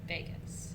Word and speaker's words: vagus: And it sounds like Las Vegas, but it's not spelled that way. It's spelled V-A-G-U-S, Vegas, V-A-G-U-S, okay?